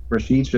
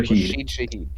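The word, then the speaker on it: Rashid Shaheed: Rasheed Shah. Rashid Shahid.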